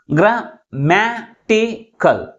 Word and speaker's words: grammatical: Third syllable from the last pronounced with a greater force comparing with other syllables.